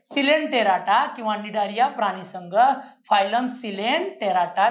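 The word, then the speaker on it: Cnidaria: है सिलें टेराटा किवा डारिया प्राणी संग फाइलम सिलें टेराटा किवा डारिया सी साइलेंट असतो दोन्ही च नाव एकत्र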